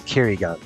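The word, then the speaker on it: 唭哩岸: The Japanese pronunciation is Kirigan.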